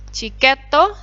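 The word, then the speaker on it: チケット: Chiketo, chiket, tiket. Jadinya chiketo. Ada do, sebelumnya ada su kecil berarti jadi double. Beddo.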